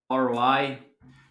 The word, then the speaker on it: ROI: units yield or Roi a lot of Americans say Roi so that you will